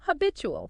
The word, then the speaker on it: habitual: Habitual. Stress on bit. Habit. Ghoul. That two often becomes chew.